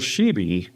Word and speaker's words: Schibi: Nicole Slack, my co-host, and Nicole Sheeby is, did I say that right?